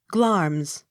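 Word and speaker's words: Glamis: g hard g l a m i s glams g o r g e s georges the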